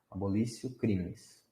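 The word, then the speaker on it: abolitio criminis: O nome disso, opa, com T, só que fala com C. Esse T pronuncia C. Abolício crimes.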